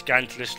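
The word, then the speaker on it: Gantulyst: It is Gantalist, look how it's spelled, G-A-N-T-U list, Gantalist.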